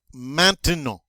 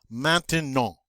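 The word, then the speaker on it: maintenant: well okay next one mantino all right so we have that beautiful a sound at the front mountain no and that all sound at the end and what is manta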